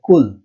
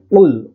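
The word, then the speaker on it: قُلْ: এখানে বানান সবাই করে কফ লাম পেশ কুল, কিন্তু উচ্চারণের সময় মারাত্মক একটা ভুল করে, সেটা হলো বলে কুল, বড় কাফ দিয়ে বলে, কাফ যেটা রয়েছে সেই কাফ দিয়ে বলে কুল, কিন্তু এখানে উচ্চারণটা হবে উল উল, উল মোটা করে উচ্চারণ করতে হবে উল।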